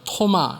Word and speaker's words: 도마: 이 도마는 아람어입니다. 그래서 토마 이렇게 발음하기도 하는데 그 뜻은 쌍둥이라는 의미를 가지고 있습니다.